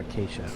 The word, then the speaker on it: Acacia: Cod D and ACAA I always want to mispronounce that Acacia I want to say Atta but I have